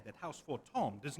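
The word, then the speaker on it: Fortemps: Never let it be said that house for Tom does not acknowledge the efforts of her allies or her deaths. House for Tom keep wanting to pronounce the uh Ps is Tom.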